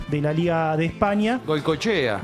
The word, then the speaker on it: Goikoetxea: Goychea. Goychea, exactamente, que no se escribe como el Goico nuestro, sino con X y un par de modificaciones.